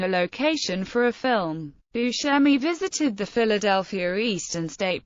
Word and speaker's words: Buscemi: Image Buscemi pronounces his name as Buscemi, but the Italian pronunciation is Buscemi.